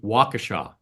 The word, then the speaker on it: Waukesha: That November, they got that answer from a solitary lightning storm in a nearby city named Waukesha. Did I pronounce that right?